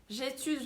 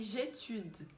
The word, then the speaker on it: j'étudie: Mas não é j'étude, é j'étudie. Tem um I e tem um E no final. Como o E não vai ser pronunciado, a gente para falando do I bem pronunciado.